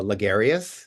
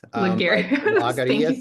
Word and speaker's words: Lagarias: can't hear you um I usually use larus laras is a is a Greek uh pronunciation so it's okay too I would like to